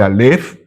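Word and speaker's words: אלף: No se dice a, se dice alf, pero eh todos empiezan por la primera letra del alfabeto, pero es en realidad esto.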